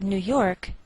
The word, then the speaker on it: New York: Note that we treat New York as one word and we place more stress on the second part, York.